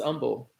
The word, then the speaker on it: humble: good way humbly humbly there's no h in that only i don't pronounce the the h is silent i'm bullying it's humble i stay humble and